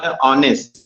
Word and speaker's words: honest: जैसे आप देखो, ऑनेस्ट में आपका वर्ड स्टार्ट हो रहा है, वो किससे स्टार्ट हो रहा है, यच से। ठीक है, लेकिन अगर हम उसका प्रोनाउंसिएशन कर रहे हैं तो ये आपका ऑनेस्ट, यहाँ पे आ, ठीक है, इसलिए यहाँ